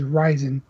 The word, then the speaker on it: Ryzen: and they're actually officially confirmed the name as ryzen and it's can you spell that R yzen okay all right now they